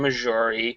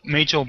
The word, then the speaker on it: Majel: by none other than missouri roddenberry um i think i just mispronounced her name yeah completely uh majel barrett or mitchell roddenberry um yep who